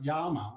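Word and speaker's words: yaama: word um it's like yama it's y double a m a and people will go well what's a double a well it's a r sound so it's like yama and it's so it's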